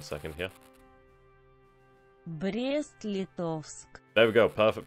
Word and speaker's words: Brest-Litovsk: Brest-Litovsk. There we go, perfect pronunciation. Nobody can say I've never pronunciated correctly. Never can it be said again. 1 second, I'll say it once more for prosperity. Brest-Litovsk.